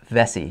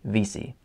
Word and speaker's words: Vesey: fun of because I said that I said Vesey in the card opening thing I said that because if Vesey is a extremely popular name here on Prince Edward Island it's everywhere and it's pronounced Vesey here so yeah so I said it naturally